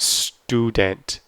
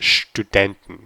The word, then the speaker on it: Student: is on and you it's really important to make the sh sh it's not student it's student okay I'm going to end